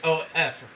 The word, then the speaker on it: of: It's O-F, right? Like, if you sound it out, it sounds like there's a V in there, doesn't it?